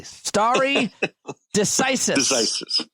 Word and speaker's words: stare decisis: decisis story decisis that's what I said I pronounced it perfectly starry decisis yes what does that mean what is that